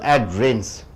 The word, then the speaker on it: adherence: So 2 syllable, adherence. 2 syllable, you stress on the first syllable, adherence.